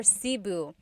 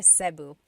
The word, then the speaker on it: Cebu: So, technically in the Tagalog alphabet, the letter E can be pronounced E or E like the letter I. So, I say Cebu. Cebu. And I know some people say su, but usually it's either Cebu or Sebu.